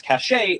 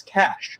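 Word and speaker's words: cache: Or this word, which some people mispronounce as cashache when it should be pronounced as cash, like the money.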